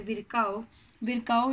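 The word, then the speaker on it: Virchow: और फिर यही सेल थियरी को विरकाउ ने, इनकी प्रोनाउंसिएशन होती है विरकाउ ने 1855 के अंदर क्या किया बेटा?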